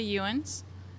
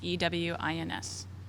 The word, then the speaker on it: Ewins: last name for me so we get your pronunciation right? Sure. Ewins. And the first name is. Last name is Ewins.